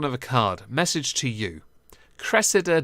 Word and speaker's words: Cressida: akkad message to you Cressida dick is pronounced Cressida not Reseda please stop so yeah